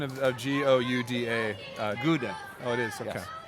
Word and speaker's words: Gouda: you good to see you what's the correct pronunciation of Gio UDA Gouda Gouda cheese hi good to see you mrs.